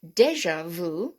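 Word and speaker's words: déjà vu: so beijing bijoux which is very french bijou deja vu very french which we we use all the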